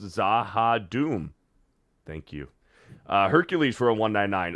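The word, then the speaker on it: Z'ha'dum: a Babylon five fan zaha Doom is pronounced zaha Doom thank you uh Hercules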